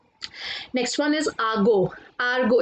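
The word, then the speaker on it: argot: आर्गो, इसमें T silent होता है गाइस।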